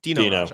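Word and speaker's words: Dino Rađa: Or is it Dino or Dino Raja? Dino Raja. I said it right.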